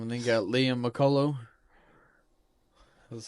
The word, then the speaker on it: McCullough: And then you got Liam McCullough.